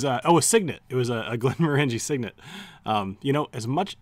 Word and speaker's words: Glenmorangie: signet it was a Glenmorangie signet you know as much even though I know it's Glenmorangie I will probably forever call it Glenmorangie just because I called it that so long I don't know I'd